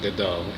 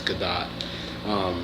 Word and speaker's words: Gadot: Gal Gadot, and it is pronounced Gadot, not Gadot, it's Gadot.